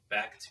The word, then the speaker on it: Becht: Matt Becht, is that how you pronounce his name?